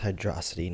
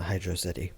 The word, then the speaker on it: Hydrocity: Also, it's pronounced Hydrocity, not Hydrocity.